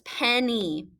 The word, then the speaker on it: Penny: Penny. So this Y is saying E. Pen-e. Pen-e. So this first syllable is pen, and the open syllable Y is standing by itself, and it's saying E.